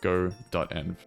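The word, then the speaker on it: godotenv: EnV which Fally enough looks exactly like good EnV but it's actually pronounced go. EnV as in EnV so anyway we've uh acquired go.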